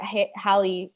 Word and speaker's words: Halley: yeah and it's got halle right below it what a cute little cute little baby i feel like at least it is rhymes with valley not haley that's how i remember